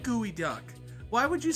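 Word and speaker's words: geoduck: You said gooey duck. Why would you say it's pronounced gooey duck if you said gooey duck?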